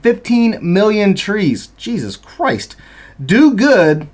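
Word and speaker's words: DooGood: Do good, it's spelled D-O-O, like doo-doo.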